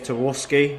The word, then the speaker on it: Tarkowski: I want to call out the Burnley defender, James Tarkowski. Is that how you say it? Yep, Tarkowski, yep.